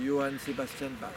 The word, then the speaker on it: Johann Sebastian Bach: De Johann Sebastian Bach, si on veut prononcer à l'allemand.